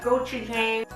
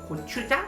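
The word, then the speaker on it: 고추장: And next one, we have giu jang. Actually, the proper pronunciation for this red pepper paste is called kchu jang. So, it's more like a jang rather than jen.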